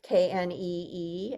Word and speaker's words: knee: my favorite things guys we used to say knee the K used to be pronounced in Anglo-Saxon Old English and what happened is